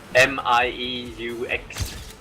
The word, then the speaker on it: mieux: No, actually, it's not fucked up, but contrary to a lot of languages, we don't pronounce all letters in French, so we end up having some pretty weird words sometimes.